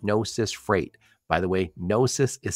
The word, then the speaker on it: Gnosis: technical officer at nois Freight by the way nosis is spelled GN o s i nosis Freight pioneered